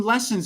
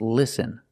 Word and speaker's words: listen: The word is not pronounced lesson. It's pronounced listen. We use the short sound I, like this is, I. Listen to the difference. Listen, lesson. We need the short sound I, listen.